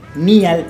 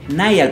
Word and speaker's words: Niall: Neil se pronuncia Niall porque él es inglés, ¿verdad?